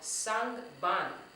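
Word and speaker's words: sangban: So let's see how many syllables we have with sang ban. Sang ban. That was 2.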